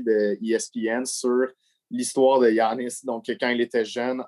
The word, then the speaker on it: Giannis: de Adrian Wojnarowski de ESPN sur l'histoire de Giannis, donc quand il était jeune en Grèce. Tu vois que Kevin prononce pas le nom comme moi.